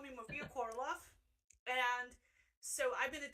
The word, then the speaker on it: Korolov: call me Maria Korolov.